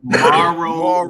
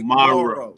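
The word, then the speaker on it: Mauro: First of all, can we pronounce it Morrow? Morrow Ronaldo. Oh, like Mark. Okay, Morrow.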